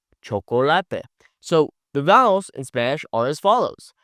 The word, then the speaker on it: chocolate: In English, we would say chocolate, but when I just focus on pronouncing the vowels correctly, this word now sounds like chocolate. Chocolate.